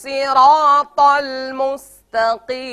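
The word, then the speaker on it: ٱلصِّرَٰطَ ٱلْمُسْتَقِيمَ: খেয়াল করবো নামাজে দাঁড়িয়ে গিয়ে আল্লাহু আকবার, ইহদিনাস সিরাতাল মুস্তাকিম, জি বলুন, ইহদিনাস সিরাতাল মুস্তাকিম, জি এবার সবটুক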